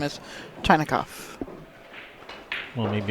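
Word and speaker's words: Chinakhov: Yep, Ruslan Chekhov, and not Chinakov. His name is Chinakov. Well, maybe it's pronounced Chekhov.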